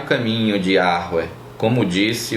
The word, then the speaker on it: Yahweh: Porém, há essa possibilidade de o início, em vez de ser pronunciado com o E, ser pronunciado como A, como a gente tem no termo Aleluia, que é louve a Yah, que é o início do nome Yahweh.